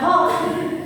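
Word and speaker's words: Hooke: Hook ya, bukan hook. O-nya ada dua. Jadi dibacanya hook ya.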